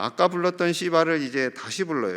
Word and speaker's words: 시바: 소망합니다 자 아까 불렀던 시바를 이제 다시 불러요 여러분 발음 잘 하셔야 돼요 시바 부드럽게 하셔야 돼요 자 9절에서 10절입니다 9절